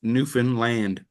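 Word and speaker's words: Newfoundland: to correct people's language but is is new Newen land oh thank you for correcting me yeah so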